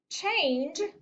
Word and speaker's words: change: Change is a tricky word. And it is tricky because in the word change, there's a long A sound.